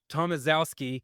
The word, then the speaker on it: Tomaszewski: for our guest, Luke Tomaszewski. I hope I said that right because it sounds like Mike Wazowski, but it doesn't be spelled like that.